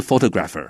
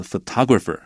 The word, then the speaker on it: photographer: 那 photographer 重音注意，它是在它上面，不是 photographer，是 photographer， photograph，然后呢 photographer。